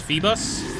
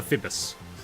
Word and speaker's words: Feebas: That one I would only see it being realistically pronounced as Feebas and Feebas. I could not I don't know how you get to Fibbus, but that is funny. It was Feebas.